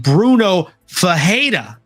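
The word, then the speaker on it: Bruno Ferreira: comes to somebody like Bruno FAA we make an H sound for the r why do you think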